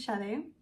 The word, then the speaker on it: Sade: I was very confused, so I had to like Google a random interview with Farida Abikeyimide to see how she pronounced the name, and apparently it's Shade, so I'm just gonna call her Shade.